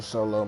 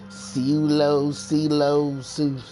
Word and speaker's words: Sewlow: And I just love like hearing people trying to pronounce my name when they see it. Sewlow. No, it's Sew, S-E-W, Low, L-O-W.